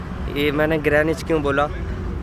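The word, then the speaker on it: Greenwich: ग्रह नीच क्यों बोला तो यहां पर इसको गिरा नीची बोलते हैं बट जब मैं शुरू आया था तो मैं भी ग्रीनविच बोलता था लेकिन इसका जो प्रोनाउंसिएशन है वह यह ग्रह नीच है है तो लेकिन अभी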